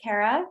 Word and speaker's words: Cara: It's Cara, and I'm the President and Executive Director at OEN. I know I tell people all the time it rhymes with Sarah.